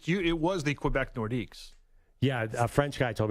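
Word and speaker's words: Nordiques: well it's it's you it was the Quebec nordics yeah a french guy told me this weekend is nordique don't say yes well I mean it's it's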